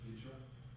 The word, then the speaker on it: Hijra: Is that how it's pronounced? Hijra. Uh Hijra.